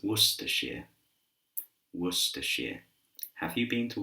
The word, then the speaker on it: Worcestershire: So repeat after me, Worcestershire, Worcestershire. It's not Worcestershire, but it's Worcestershire, Worcestershire.